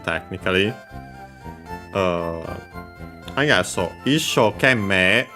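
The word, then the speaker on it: 一生懸命: Uh I got so issho kemme, the accent is on the first mora of the second word part of the compound.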